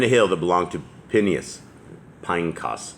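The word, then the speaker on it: Phinehas: And Eleazar, son of Aaron, died, and they buried him in a hill that belonged to Pinecas is how that's actually pronounced, his son, which was given to him in the hill country of Ephraim.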